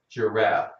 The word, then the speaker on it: giraffe: about the word giraffe giraffe that animal in Africa with a very long neck a giraffe that's spelled with a G but it sounds like a j okay we have H